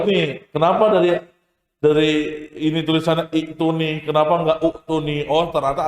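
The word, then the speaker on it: ائتوني: Jadi i'tuni. Itulah yang membuat jadi tulisannya adalah i'tuni. Gitu ya. Paham? Nah, tapi kalau kita mulai dari kata i'tuni, maka bacanya adalah apa? Ituni.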